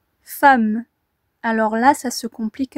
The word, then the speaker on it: femme: Dans femme, nous entendons bien A, fa, A, mais nous ne le voyons pas. C'est un E, mais ici, le E est prononcé comme un A.